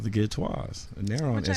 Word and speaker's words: Ghetteaux: Yeah, they have an Instagram page at The Did you Ghetteaux. spell it out? I spell it, okay. The way it's spelled is really pronounced Ghetteaux, but I call it Ghetteaux. Because it's kind of bougie.